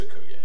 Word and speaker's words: Okoye: It's Okoye.